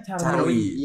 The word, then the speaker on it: Caruy: Tulisannya tuh Carwi. Bukan pakai Y. Tulisannya CARUY. Bacanya Carwi.